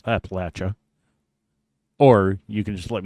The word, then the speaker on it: Appalachia: on how you pronounce Appalachia, or you can just let me take care of it for you. Appalachia. It's Appalachia. Appalachia. If you're from there, you say Appalachia.